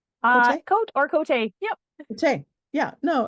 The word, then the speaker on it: Côté: Yeah, no, it's not Côté, it's Côté. Which for those of you on YouTube, you see the fun little lines up there, the French pronunciation of that.